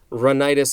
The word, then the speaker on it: rhinitis: what to avoid next we have allergic rhinitis run itis is spelled rh i n i t is this